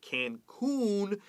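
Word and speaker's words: Cancún: Now, the word Cancun, 这个 U 发 O 像 moon.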